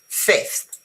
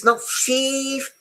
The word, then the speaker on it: fifth: Fifth. It's short. It stays in your throat. Okay. It's not thief because otherwise becomes too difficult to pronounce. It's fifth.